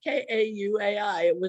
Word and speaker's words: Kauai: Kauai.